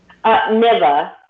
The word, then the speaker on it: Niva: Did you say it was Neva? How'd you say her name? Niva. Niva. Okay.